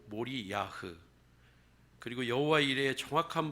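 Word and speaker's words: מוריה: 같은 초보들은 조금 살펴볼 필요가 있습니다 모리아의 정확한 발음은 몰이 야흐 그리고 여호와 이레의 정확한 발음도 여호와 이루에입니다 두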